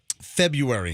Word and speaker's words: February: And so I know the right way to say it. February. Yes. Yeah, I don't use, but some people do say February. But both, according to the M-W Merriam-Webster Talking Dictionary, both are actually correct.